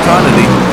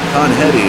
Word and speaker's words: Conetti: That is Thomas Cony. Conetti I should say.